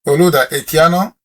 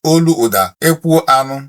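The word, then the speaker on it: Olaudah Equiano: Oluda Ekiano is how they pronounce him. But if I tell you that the full pronunciation of Oluda Ekiano in Igbo is Oluoda Ekwu Anu, that was what our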